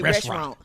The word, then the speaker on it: restaurant: He say restaurant. Say well, restaurant. No, you don't pronounce the T.